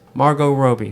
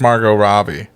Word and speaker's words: Margot Robbie: on the female actress Margot Roby Margot Robbie Margot Roby how do you say it I think it's Margot Robbie Margot Robbie I've always heard Roby really yeah that's the